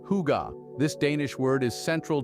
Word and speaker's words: hygge: Pronounced hygge, this Danish word is central to the Danish way of life.